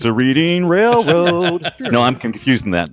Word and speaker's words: Reading: I'm taking a ride on Reading Railroad. You'll pronounce it wrong though. It is Oh. Reading Railroad, as in Reading, Pennsylvania.